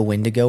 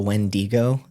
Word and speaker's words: Wendigo: wig and I know it's pronounced like two different ways you can call it like the windigo or the wendigo I'm not sure which